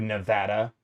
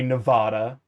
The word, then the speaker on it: Nevada: Also, I'm looking at you, Nevada, or should I say Nevada because it's how it's pronounced. It means snowy in Spanish.